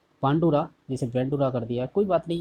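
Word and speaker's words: Bandura: जहाँ बेंडुरा दे रखा है इसे इसका राइट देखा जाए तो इसका शुद्ध उच्चारण होता है बांडुरा बोलते हैं, जैसा कि इंग्लिश में दे रखा है यहाँ पे बेंडुरा कर दिया है, कोई दिक्कत नहीं।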